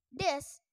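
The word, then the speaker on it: です: predikat Ayo kita simpel Des bentuk positif yang digunakan untuk membuat sebuah ucapan menjadi ucapan formal huruf u-22 kata deskripsi tidak diucapkan hingga sehingga dibaca Des keh Oke bentar bentar guys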